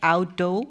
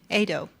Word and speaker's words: AWDO: Do we do I say alo or ado? Okay, ado. I always tell you it's alo.